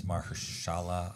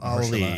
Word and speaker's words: Mahershala: I'm not sure, but I think his name is Mahershala Ali. Mahershala Ali. Yeah. Okay. I wasn't sure how to pronounce the first name.